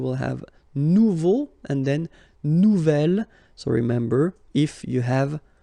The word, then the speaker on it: nouvel: Nouvelle, phonetically you pronounce it like the feminine version, but then you write it N-O-U-V-E-L.